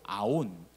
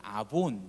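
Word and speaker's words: עָוֹן: 이 버리라고 하는 말이 히브리어로 아운 혹은 아본 이라고 하는 어 이렇게 발음하는 단어 2 아오 나 보니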